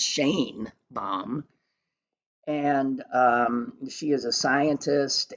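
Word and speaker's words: Sheinbaum: Her name is, I was calling her Shine Bomb. I saw today that it's pronounced Shane Bomb.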